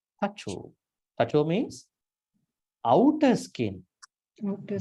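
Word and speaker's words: taco: Tacho, not tako. Tacho.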